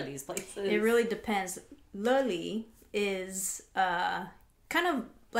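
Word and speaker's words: Löyly: So on the sauna fence, I did this place called Loili, but it's pronounced Loili.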